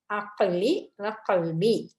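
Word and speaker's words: عقلي وقلبي: துவா இதுல பாருங்க வனிர் அக்கலி வகல்பி கா உச்சரிக்கணும் ரெண்டு காவும் உச்சரிக்கணும் அக்கலி வகல்பி அதாவது எனது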